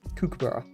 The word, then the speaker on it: kookaburra: Kookaburra. You kind of have to say it like say it in the accent.